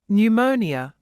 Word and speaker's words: pneumonia: some things to remember p is silent at the beginning of a few words listen and repeat psychology pneumonia psychiatrist the word cupboard is